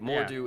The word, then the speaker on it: Mordu: that right right yeah it more do is the pronunciation yes yeah yes more